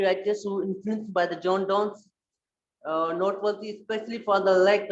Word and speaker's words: John Donne: Okay, Sir, my done. dear, first thing is that it is John Donne, right? Pronounce it clearly, Yes, sir.